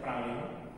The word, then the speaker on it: Praslin: Pulau yang besarnya yang tempat itu kotanya Victoria, terus pulau kedua yang itu tempatnya hotel saya itu Praslin itu saya Praslin tapi bacanya Pralin.